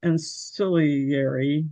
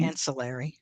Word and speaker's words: ancillary: And I can't always pronounce ansilary or whatever it is. Um ancillary. There you go.